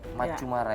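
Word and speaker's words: Maccumara: Nah, terakhir juga Macu atau Maku nih bacanya? Macu Mara ya.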